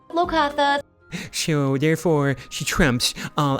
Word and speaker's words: Locathah: our campaign, our Waterdeep Dragon campaign, called the Locathah.